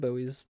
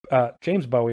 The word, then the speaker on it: Bowie: David Bowie's kind of timeless. He is a little timeless. Yeah, so James Bowie, or Bowie, sorry, it should probably be pronounced Bowie. It's Bowie. Oh.